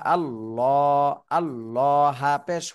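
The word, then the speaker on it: اللهُ: কিন্তু ভুল হয়ে যাবে আল্লাহ শব্দের ডানে পেশ তারপরও চিকুন করে পড়তেছেন এজন্য ভুল হবে এখন আল্লাহ শব্দের ডানে জবর আর পেশ থাকলে মোটা করে পড়তে হবে এখন যেভাবে আমরা পড়লাম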